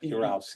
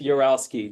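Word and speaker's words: Urowsky: How do you pronounce the middle? I just make it up. Uralski. Uralski.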